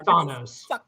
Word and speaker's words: Thanos: ball hold hold on are you saying Thanos or Thanos it is Thanos it is pronounced Thanos [